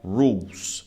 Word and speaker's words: rules: É rules. Você não fala o E aqui. Você fica no U e no L.